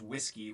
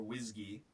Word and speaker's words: WSGI: this standard Library so wsgi often pronounced whiskey or whiskey is is the standard